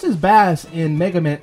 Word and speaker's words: Bass: You know, it's pronounced as Bass in Mega Man 8, so let's go with that.